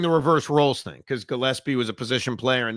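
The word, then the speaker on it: Gillispie: That is Gillespie, right?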